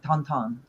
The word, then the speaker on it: Tintin: also like likes tonon it's called Tintin in American or English but he pronounces in French like tonon that's how you say it it's actually I like